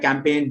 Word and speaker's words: campaign: Even at the end, same, the combination GN at the end. For example, common words like campaign, design, foreign.